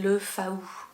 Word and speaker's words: Le Faou: loin de chez moi et le fou ça s'écrit Le Faou donc si vous cherchez sur une carte c'est le Faou et du coup il